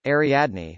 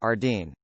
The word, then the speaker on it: Ariadne: name from greek mythology ariadne which is pronounced pretty much exactly the way it looks but they told her it was pronounced ardine it still makes my